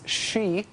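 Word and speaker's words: Xe: formerly known as Blackwater Blackwater now goes by the name we like to pronounce she Blackwater she uh is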